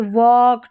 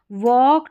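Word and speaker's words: walk: फिर यहाँ पर है एल के में, ठीक है, यहाँ पर जैसे वॉक, टॉक, चौक, ये जो एल के में एल है ना वो साइलेंट है, के नहीं है, ठीक है।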